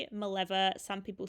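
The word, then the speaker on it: Mileva: I say it Maleva, some people say Maleeva. Um, there's all kinds of pronunciations.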